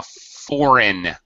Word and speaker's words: foreign: Okay, and a foreign. The G is completely silent.